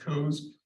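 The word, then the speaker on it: Coase: what is called the codes theorem and it's pronounced codes so it's based upon the work of The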